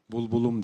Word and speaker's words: Булбулум: Bu bülbülüm, bulbulum diye telaffuz edilir Kırgız Türkçesinde.